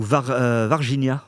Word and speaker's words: Varginha: dans ma vidéo sur Varginha, ou Varginha, on m'a dit que ça se prononçait en brésilien, désolé.